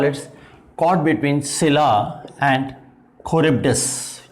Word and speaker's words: Charybdis: Pronunciation में very a बिट, बट इसको चरिब्डिस मत पढ़िए। ओके, तो सिला एंड खरिब्डिस इज द प्रोनाउंसिएशन।